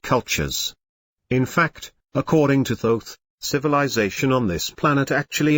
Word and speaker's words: Thoth: The person depicted here is a man named Thoth, pronounced with a long O. Someday people say Thoth, but he pronounces it Thoth.